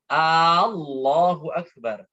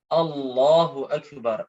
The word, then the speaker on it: Allahu Akbar: Tatkala pengucapan bar itu nggak boleh apa? Nggak boleh panjang. Harus Allahu Akbar.